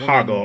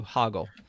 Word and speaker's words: Hoggle: Um Oh, here here's the other thing is Hoggle. They were saying that the Hogle character, the one Hoggle, I gota I got to correct you at some point. I'm sorry. You do. You do. Hoggle.